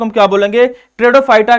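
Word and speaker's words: Pteridophyta: किस नाम से जानेंगे दादा, लिखना तीसरे को हम ट्रेडोफाइटा, टेरिडोफाइटा के नाम से जानते हैं, जिसमें पी क्या होता है, साइलेंट होता है, राइट।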